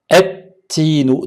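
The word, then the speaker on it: التين: Donc on a d'abord la lettre ta, tinun, et-tinu. Donc là je vous ai mis la lettre lem en gris parce qu'on ne la prononce pas, elle est muette.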